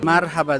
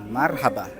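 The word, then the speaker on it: مرحبا: Marhaba daw pala ang pronunciation. Marhaba. Hindi marhaba.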